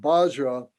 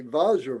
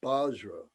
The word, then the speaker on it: Vajra: And Bajra, it's pronounced here. It's spelled out Bajra because the Tibetans don't say Vajra very well. They make it Bajra, so that's why you might see it written that way.